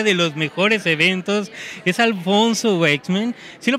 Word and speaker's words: Alfonso Waithsman: la primera fila de los mejores eventos es Alfonso Wexman. ¿Sí lo pronuncié bien?